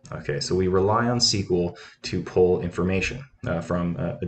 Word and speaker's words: SQL: sql stands for structured query language but it's pronounced like the word sql okay so we rely on sql to pull information from a database to query